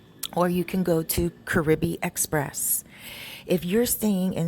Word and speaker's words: Caribe: So you could go there beside Super Pola and go to Caribe Express. In English, it is pronounced Carib.